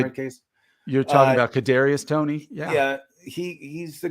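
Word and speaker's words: Kadarius Toney: you're a Giants fan but here we go kartavius Tony did I say his name in that case you're talking about Kadarius Tony yeah yeah he he's the guy that was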